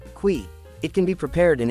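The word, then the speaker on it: cuy: you'll need to ask for Qui which is pronounced Qui it can be prepared in any number of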